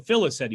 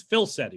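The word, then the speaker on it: Filicetti: much sheriff mike philsetti i was adding an extra syllable now i was saying phyllis city but it's phil seti right bill said do you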